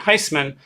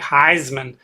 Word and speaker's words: Heisman: is a relative and our family pronounces the name with an S sound Heisman not the often misused sound Z like Heisman so we're not the Heisman Trophy we're the Heisman Trophy Anyway by the